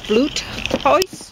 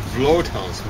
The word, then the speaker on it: Vloothuis: Or Vloothuis, maybe. Germans say V's like F's. Oh, really? Yeah. Unless they're borrowed, but if they're native to German, they say it like an F.